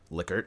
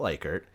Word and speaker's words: Likert: particular podcast that it is 'lick-urt' and not 'lie-kurt'. Shoutout to Tom Tullis for teaching generations of Bentley students that, because he actually contacted the Likert family in order to find out the correct pronunciation.